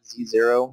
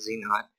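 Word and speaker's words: Z₀: Okay, so here on the top we have our Z-naught, Z-zero, if you will, and people call it a few different things, but it's pronounced Z-naught.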